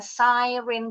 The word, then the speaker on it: siren: Bacanya siren. Kita bilangnya sirine.